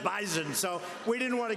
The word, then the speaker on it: bison: about bison I said I thought it was an S they said it is but it's pronounced bison so we didn't want